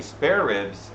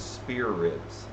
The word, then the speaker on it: spare ribs: Which, incidentally, spare ribs are actually, you're saying it wrong because originally it was spear ribs.